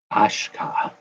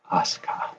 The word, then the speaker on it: Asuka: Ashka. Asuka. Asuka. What's up, Andrew? Great article today, brother. Great piece. Asuka. Okay. The U is silent.